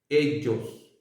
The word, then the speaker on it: ellos: Continuamos con el último pronombre, ellos, ellos. Una vez más, si se fijan, doble L en español, doble L. Y se pronuncia como la letra G de italiano, como la letra G de italiano.